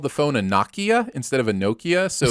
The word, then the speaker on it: Nokia: Make it a long O instead of a short O. Yeah. It's my language. Get your own. Maybe they spelled it wrong, but it's still Nokia.